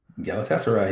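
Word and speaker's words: Galatasaray: Um Manchester City versus Galatas Galatessay. Am I pronouncing that right? Galataser.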